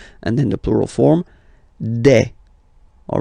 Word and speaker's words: des: Okay, and then the plural form des. All right, here s, you pronounce it like e.